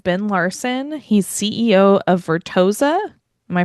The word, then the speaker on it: Vertosa: He's CEO of Vertosa. Am I pronouncing that correctly? Uh Vertosa. Vertosa.